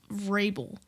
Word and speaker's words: Vrabel: Well, maybe if his name was like spelt verbal, I would like cut a little bit of slack, but it's obviously like spelled Vrabel and pronounced Vrabel.